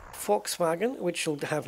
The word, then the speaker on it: Volkswagen: you've got Volkswagen uh just going with the uh proper pronunciation there Volkswagen which will have names